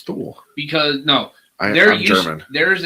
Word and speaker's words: Thule: Also, thank you for actually pronouncing it correctly, Thule, and not Thule. Yeah, it's Thule.